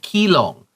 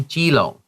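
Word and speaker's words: Keelung: You don't have to say kilong, say jilong.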